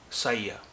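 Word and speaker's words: saya: اس میں 4 حروف ہیں اور چاروں کا الگ الگ تلفظ ہوگا. سا، ایس، سا، پھر ای، پھر آ. سایہ.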